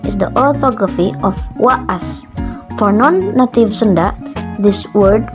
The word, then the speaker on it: wa'as: For some, this double A will be pronounced as long A, whereas Sundanese doesn't have long A as a phoneme. There is a voiced glottal stop within the word. it is pronounced by waas.